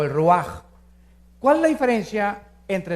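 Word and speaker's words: רוח: es j nepe y la palabra espíritu es ruaj se escribe ruach entonces vemos aquí dos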